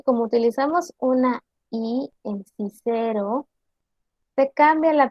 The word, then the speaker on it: Cicero: La C sonaba siempre como K. Si tenemos la palabra Cicero, debe de pronunciarse quiquero, que significa Cicerón.